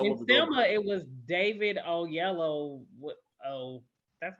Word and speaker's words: Oyelowo: In Selma, it was David Oyelowo.